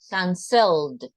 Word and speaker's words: canceled: But in this case, remember, because it has two syllables and the second is the stress, canceled, canceled.